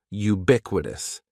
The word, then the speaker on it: ubiquitous: The first word is ubiquitous. And ubiquitous has four syllables. That first syllable is just like you're saying the letter u. Ubiquitous. And the stress is going to be on that second syllable.